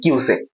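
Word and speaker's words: cusec: কুইসেক কিন্তু আমরা পড়েছি কিউসেক জলের পরিমাপের একক বা তরল পদার্থের পরিমাপের একক কিন্তু কিউসেক আর উনি বললেন কুইসেক আমার এখানেই প্রশ্ন যে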